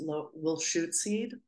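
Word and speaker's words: Lushootseed: As I said, in their language, which is pronounced Wilshootseed, I'm not pronouncing it as well as I could, sorry.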